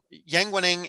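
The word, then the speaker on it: Yang Weining: Yeah, Yang Wenning and Li Shisheng, which is also how I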